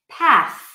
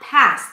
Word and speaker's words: path: So think, theory, authentic, path, not pat and not pass. This is where it can get confusing. If you keep the tongue in and you pronounce it as an S and you say pass, people will hear pass. They'll associate it with the word pass, even though you might mean path.